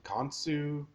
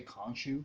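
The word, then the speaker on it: Khonshu: i liked how um i can't pronounce it kantsu i i should say kanchu kanchu the god guy the birdie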